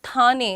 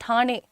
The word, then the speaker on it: ठाणे: नॉट ठाणे इट्स ठाणे ठाणे।